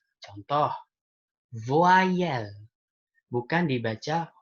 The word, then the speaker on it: voyelle: Tapi jadi kalau Y sebelumnya adalah O, maka bacanya wa. Oke, jadi bukan voyelle, tapi voyelle. Voyelle.